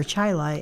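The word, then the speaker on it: Chili: on June 4th at Churchville Chile or Chilai actually high school. Yep. I was really surprised when I heard somebody say Chilai. Well, they've always pronounced it there.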